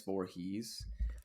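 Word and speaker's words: Voorhis: safety Haley van vort is spelled vorhis but I'm imagining his Voorhees um at Shenandoah Shenandoah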